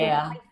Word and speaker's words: Labouchere: You did Labouchere like chair. It's actually Labouchere.